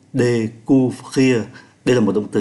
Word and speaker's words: découvrir: Kí tự ơ có dấu sắc accent aigu đọc là ê, ô với u đọc là u, découvrir.